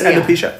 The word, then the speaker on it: alopecia: because she's going through uh she she has alopecia is that how you say it yeah she has alopecia okay so jada was was was obviously annoyed